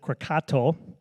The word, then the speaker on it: Krakatoa: hardly not notice these Krakatoa or the natives pronounce it crocato erupted in 1883 it